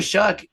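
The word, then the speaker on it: Shough: How do you say his name? Oh, Shuck. I think it's Shuck. Tyler Shuck there. Yeah, you're right. Shuck.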